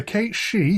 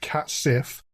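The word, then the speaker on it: cat sìth: the country's fairy cats the Kate she what looks like it should be pronounced cats Sith have the appearance of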